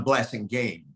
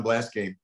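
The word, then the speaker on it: Blassingame: were very close john blessing game the game is spelled pronounced like game and um you know we were all yale together i had breakfast with john blase game six days a week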